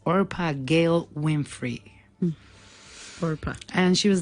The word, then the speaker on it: Orpah: her name is actually our path it's not Oprah Oprah or Pia but it was difficult to pray yes yeah it was always mispronounce so they stuck with the Opera everybody